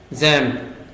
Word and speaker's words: XAMPP: यहाँ पे आप लिखेंगे जैम्प, इसका स्पेलिंग XAMPP होता है, इस पे क्लिक करेंगे, लेकिन इसको हम जैम्प पढ़ते हैं।